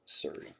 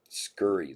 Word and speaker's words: Scurry: Wow, for the non-baseball spot to 25, 17 of 25, Brianna Surrey. A very nice hit. Scurry, that's how you say her name. There's a C in there.